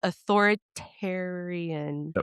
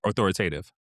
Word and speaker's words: authoritative: hard to promote because gentle par parenting is authoritarian. Authoritative. Did I say it right? Authoritative. It's the authoritative way that we're supposed to be parenting. But that word, first of all, is hard. It sounds a lot like the bad one.